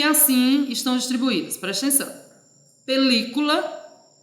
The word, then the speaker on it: película: Película, observa aí o li, tá em caixa alta, ele é a sílaba tônica.